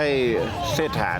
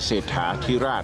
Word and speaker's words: เศรษฐา: เท่า ไหร่ นะ แต่ ไม่ ใช่ เชษฐา แน่ นอน นะ ครับ แต่ แน่ นอน ล่ะ ทาง อ่า คน บางกอก เขา ออก เสียง เขา ก็ เข อาจ จะ ออก เสียง เป็น เชษฐา นั่น แหละ ครับ มัน ก็ เลย ทำ ให้ พระ นาม ของ พระ องค์ นั้น ผิด เพี้ยน ตั้ง แต่ ต้น นะ ครับ ดัง นั้น ควร จะ ออก เสียง ให้ มัน ถูก ต ครับ คือ พระ เจ้า ไ เศรษฐา นะ ครับ โอ้